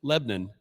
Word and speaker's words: Lebanon: a motel room in Lebon Tennessee which is pronounced or sorry spelled Lebanon but it is pronounced Lebon uh and so we were I was staying in a hotel in Lebon Tennessee and uh was